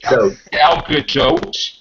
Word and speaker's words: Gal Gadot: Like Gal Gadot.